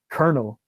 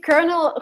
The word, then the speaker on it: colonel: strange and it's counterintuitive it's totally different from what you expect it's Colonel Oh colonel well that's what that's how they say colonel who is this guy